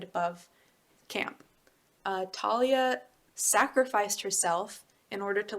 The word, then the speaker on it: Thalia: Thalia. Thalia is how I read it as a kid, but I guess that's how it's spelled. Thalia. Like she's really tall.